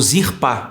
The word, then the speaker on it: Zilpa: E é o segundo filho de Zilpa. Ou Zirpá na pronúncia.